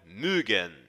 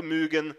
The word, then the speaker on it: mögen: Para pronunciarmos a letra O com o trema, ou seja, os dois pontinhos sobre ela, temos que fazer um biquinho com a boca e falar suavemente, como se estivéssemos esticando a pronúncia da letra O.